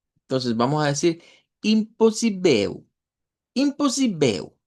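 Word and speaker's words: impossível: Termina en V, pero esa L vamos a pronunciar como U. Entonces vamos a decir imposible.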